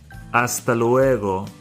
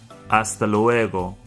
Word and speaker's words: hasta luego: Hasta luego. The H by itself has no sound. Hasta luego. Hasta luego.